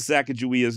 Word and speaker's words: Sacagawea: spelled eight different ways however not a single one of those spellings is with a J always with what appears to be a hard g g furthermore according to